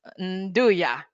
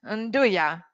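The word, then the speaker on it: 'Nduja: And famous, no, how do you pronounce that salami? It's Nduja. Is that correct? Nduja.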